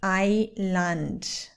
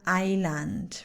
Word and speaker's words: island: The next one is island. The S is completely silent. So we say, I want to go to the island for Christmas.